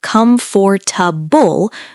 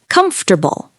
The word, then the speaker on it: comfortable: We don't usually pronounce every letter. Instead of saying come for tubable, most people simply say comfortable.